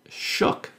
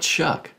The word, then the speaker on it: Shuck: found in that county the name is well shuck s-h-u-c-k now apparently the way they pronounce it there is shook not chuck i discovered later that